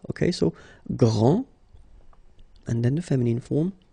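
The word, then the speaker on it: grande: exactly the same thing this final is not pronounced okay so GR and then the feminine form Grand okay so you put this and then you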